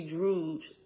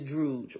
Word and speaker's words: Druj: so anytime you see druge d r u j in a wasp is is druge right it rhymes with stooge and B okay this